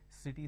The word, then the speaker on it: city: or two different sounds city starts with a sir sound and cat starts with